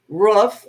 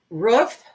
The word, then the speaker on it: roof: roof lexie lex lexi how do you pronounce roof the word r-o-o-f huh say that again why no just say it ruff it sounds so funny the first time you said